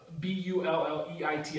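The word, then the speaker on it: Bulleit: see um bullet uh b u l l e t i pronounce it bullet I don't even know if that's right uh they're actually on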